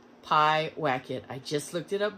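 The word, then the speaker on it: Pyewacket: up to see if i pronounced it will pronounce it right pi whack it i just looked it up before i made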